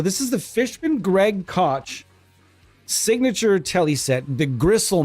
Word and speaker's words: Koch: to call him Greg Koch. There's like 6 different ways to pronounce that name, it seems. I've heard people call it Coke. I've heard cock. Say what you like.